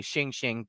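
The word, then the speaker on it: xing xing: these creatures are known as shing shing or pronounced the same way shing shing but x i n g which means alive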